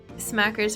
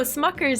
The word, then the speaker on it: Smuckers: Wait, is it Smuckers? Am I saying it wrong? Smackers is the Uncrustables brand? No, Smuckers is the Uncrustable brand. And Smackers is the lipstick, the lip balm.